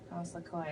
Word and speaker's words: Lecoeur: Frantz Lecoeur. Frantz Lecoeur. It's not like a liquor.